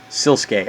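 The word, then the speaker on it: Sliske: presumed dead an Epic Quest involving the shadowy silkee himself and yes it's pronounced siluk I looked it up so all right some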